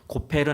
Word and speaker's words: 고페르: 거고 무슨 나무인지 몰라요 그래서 그냥 그 발음 원어 발음 그대로 고페르 나무 이렇게 이제 얘기를 하는 거예요 그래서 고페르 나무로 방주를 만들려고 명하시고